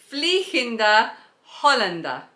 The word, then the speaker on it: Vliegende Hollander: So it is pronounced, hang on, I'm gonna have to have a look at the thing. Vliegende Hollander. Vliegende Hollander, and I think it means the Flying Dutchman.